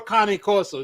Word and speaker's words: Cane Corso: If you got a pure, this is why I asked if you had a pure Cane Corso.